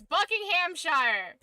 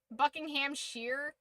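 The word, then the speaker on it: Buckinghamshire: It's Buckingham Shire. You can't tell me different. It's not Sheer. Buckingham Shear.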